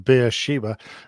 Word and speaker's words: Beersheba: Just outside of the city of Beersheba or Beersheba. I like the beer Sheba. I want some more beer, please. Sheba. What's the waitress's name again? Sheba. Okay. I'll have Sheba, more beer.